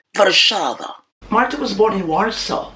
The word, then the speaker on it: Warszawa: Anyway, the correct or legit Polish pronunciation is Warszawa.